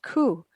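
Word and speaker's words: 九: another number number nine in japan the number nine is pronounced ku the reason for this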